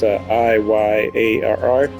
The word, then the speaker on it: Iyar: The story of Caravan Stories takes place in Iyar. If I pronounce that right, it's Iyarr.